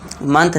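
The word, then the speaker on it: May: इसे मई मई बोलते हैं। लेकिन इसका करेक्ट प्रोनंसिएशन देखा जाए इंग्लिश के अकॉर्डिंग तो इसका प्रोनंसिएशन क्या होता है? राइट प्रोनंसिएशन इसका होता है मे।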